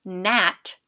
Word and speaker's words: gnat: Or in the word gnat, the G is silent, but together the G and the N stand for the N sound.